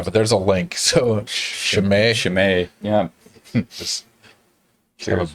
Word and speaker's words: Chimay: So this is, what is it pronounced? Chimay? That's how I pronounce it. I'm not sure how the monks say it. Yeah, but there's a link. So Chimay.